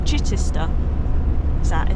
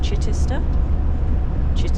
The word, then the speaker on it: Chichester: Just following road signs to Chichester. That's how you say it? Chichester?